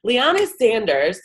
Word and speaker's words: Liana Sanders: This is Bella Vasta with Jump Consulting, and today I have one of our own with us, Liana Sanders. I pronounced that right?